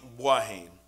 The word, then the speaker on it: Boahene: It's Boahene, B-O-A-H-E-N-E, like Boahene, okay, like a hen, something like that, so you can.